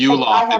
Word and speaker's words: Yuloff: I'd spell it out. You Well, know, I for would say Yuloff, it's EWE as in sheep.